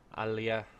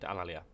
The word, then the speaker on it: Alalia: So as you can see, the Etruscans have Alea. Oh my god. My pronunciation's gone completely to pot. Alalia. That's right, Alalia.